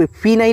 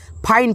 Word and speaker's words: fine: देखिए जैसे FI से यहाँ पे आप फी नहीं लिखिएगा और NE से ने फीने नहीं पढ़िएगा, फाइन पढ़िएगा।